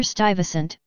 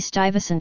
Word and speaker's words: Stuyvesant: and had peter stuyvesant English pronunciation slash stop SNT slash in Dutch also